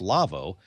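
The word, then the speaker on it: Lawo: by the folks at Lavo l A Wo pronounced Lavo uh it is a company that makes consoles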